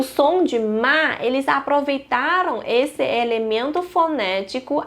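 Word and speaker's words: 妈: Então tem radical de mulher e que o ideograma de mãe se pronuncia ma.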